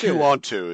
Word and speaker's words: Quanto: I was like, oh, it's Quanto is the pronunciation.